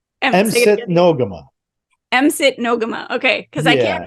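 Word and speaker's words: Msit No'kmaq: spelled yes yeah so M sit nogama with the Ks are sound like a g okay and anyway that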